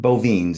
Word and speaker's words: Bovenes: Yep, Bovines is how it usually is, but Bovenes.